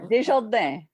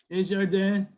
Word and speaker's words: Desjardins: Now, how did I do on the pronunciation? Am I anywhere close? You are. Okay. You are. Desjardins. Desjardins.